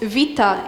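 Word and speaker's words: βήτα: And this letter, which looks like a B, or looks like a fancy version of B, is pronounced vita in Greek. So it's a V sound.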